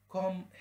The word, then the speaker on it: comb: يمشط أو يسرح الشعر comb hair. comb hair هنا البي مش هتتنطق لأن هي في نهاية الكلمة مسبوقة بحرف الام.